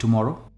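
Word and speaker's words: tomorrow: काफी common word है इसे हम कहते हैं टु मरो जो स्ट्रेस है वो मो पे आता है टु मरो यानी कल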